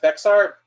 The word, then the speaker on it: Bexar: for for Biden what did uh how's it pronounced Bexar right this is a 880,000 vote win for